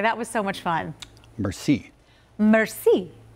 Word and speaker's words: merci: Merci. It's not mercy. Oh. It's more like merci.